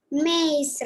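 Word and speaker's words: maïs: When trema accent is there, pronunciation also will change. That will be maize, and the meaning will be sweet corn.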